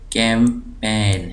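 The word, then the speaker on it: campaign: break एक syllable है कैंपेन यहां प जी साइलेंट है कैंपेन कैंपेन कैंपेन इसको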